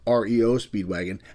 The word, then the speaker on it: REO Speedwagon: He liked that name, but instead of calling them the band REO Speedwagon, they separated the letters, and of course, it's called REO Speedwagon.